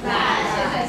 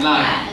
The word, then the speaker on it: LINE: 通关密语叫做打开 LINE。啊，它会不会写成那个赖皮狗的赖？不会哦，你要发音标准一点啊。